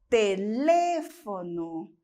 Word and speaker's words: teléfono: Nós vamos ter no português telefone e no espanhol teléfono.